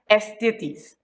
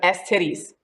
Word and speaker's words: Estitis: Yes, her name is Salina Estitis. I'm going to say it like that instead of S-titties.